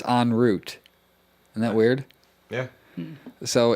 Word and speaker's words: en route: __ ] weird that it's totally the opposite pronunciation of what i've always said we always say en route yeah but it's on root isn't that weird yeah so ins uh instead